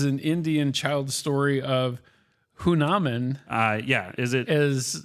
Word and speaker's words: Hanuman: Is it Hunaman or is it Hanuman? Han. You decide. It's spelled Hanuman. I think that's how they pronounced it.